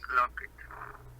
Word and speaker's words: clogged: Now the drain is clogged. What is the correct pronunciation, remember? Clogged? Clog. The E is not pronounced.